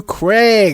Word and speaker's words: Kreig: I said you know my name's actually pronounced Craig but I said if